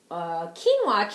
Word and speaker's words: quinoa: So one more thing I had from the Lundberg is their quinoa tricolor blend. If you're not familiar with quinoa, it's with a Q, but it's pronounced like a K.